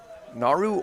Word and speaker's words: Naru: news that dropped today naru organics is that you pronounce that that is correct that is absolutely how you announce that i'll quickly run you